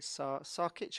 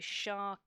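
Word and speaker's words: Šarkić: Is it Sarkic? Are we saying that? Is that how we say his name? It's got a hat on the S, isn't it? So it would be Sharkic.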